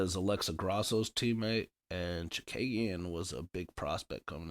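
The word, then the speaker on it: Chookagian: one, Chikagian or Chukagian. Aldana? All right. Yeah, Chukagian.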